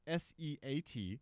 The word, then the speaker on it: SEAT: So it's Seat, SEAT. Mm-hmm. And the only reason I know that it's pronounced Seat is because I heard somebody else say it.